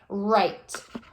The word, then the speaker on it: write: And WR, again, we're not saying the W. We don't pronounce the W.